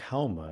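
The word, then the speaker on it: Haoma: Zoroaster, their prophet, took Hauma, and in Farsi you don't pronounce the S, you pronounce it like an H, so Soma would be Hauma.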